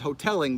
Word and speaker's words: Hotalling: he pronounces Hoteling, but it's actually Hotalling.